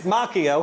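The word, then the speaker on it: Macchio: It's Mchio and I can get to him if I wanted to. It's Oh, yeah. I can get to Makio.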